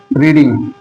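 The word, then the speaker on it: read: बट जो इसका pronunciation होता है वो चेंज हो जाता है।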